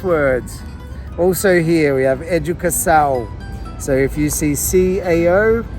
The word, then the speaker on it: educação: So if you see that little squiggle under the C, C for Cedilia, the C is pronounced with the S noise. Also, if you see that wave on top of the A, you'd pronounce that with the nasal noise, ow. So educação. So how would you pronounce this word, guys?